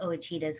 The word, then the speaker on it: Ouachita: mountain area it's called wachitan yeah mountains but i call them oh cheetahs because that's what the locals nice okay that's cool they pronounce the o then that's what they do but yeah and we